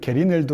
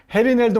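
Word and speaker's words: Gerineldo: 그렇죠 넬도 마르케스 대령 영어 버전 안정의 버전은 게리도 그러는데이지를 해라고 발음해야 되죠 스페인어에서는 헤리 넬도 마르케스 대령이 바로 우리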